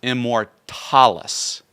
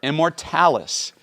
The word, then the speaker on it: Immortalis: then with much consideration I decided to change the pronunciation to the modern English pronunciation of Immortalis so I just wanted to get that out there Immortalis is the name of